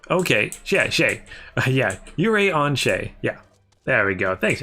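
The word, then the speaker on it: Urianger: Yuri Onsha.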